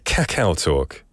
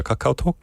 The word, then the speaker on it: 카카오톡: In English, I would say 카카오톡, 좀 강렬하게. But in Korean, it's a bit softer. 카카오톡, 카카오톡. I like the English version. It's stronger. You go straight punch it. 카카오톡.